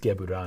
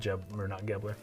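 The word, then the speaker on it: Gevurah: little more recently, but it would be pronounced Gebura, not Gebler.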